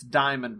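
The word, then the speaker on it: Dyamond: It's Diamond, but spelled with a Y. Yes. I think they pronounce it Diamond.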